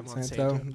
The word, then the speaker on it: Monsanto: Um, Monsanto, is that how you pronounce that? Yeah. Monsanto.